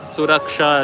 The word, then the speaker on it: Suraksha: but it is very intentional mispronunciations of Ishwar as Ishwar, and Vidya as Bidda, and Suraksha as Surakha.